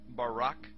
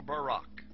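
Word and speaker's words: ברק: a flash of light in Hebrew is pronounced Barak or Barak now consider this amazing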